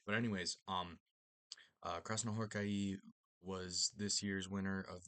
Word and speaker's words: Krasznahorkai: Um, and then the AI at the end of his name is um I I recently learned is is not a diff thong. Um, it's two separate syllables. It's not I, it's I. So, gonna try to pronounce that that way.